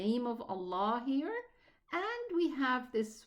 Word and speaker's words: Allah: The difference is that the lam in the name of Allah fills the mouth when it's elevated, while it's pronounced a normal lam when there is a kasra before it.